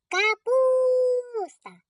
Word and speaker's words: Капуста: Капуста. Наголошений у.